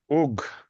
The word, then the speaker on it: Ug: Ug, that's how his name is pronounced. He's good at giving hugs, maybe, but he's Ug, not hug.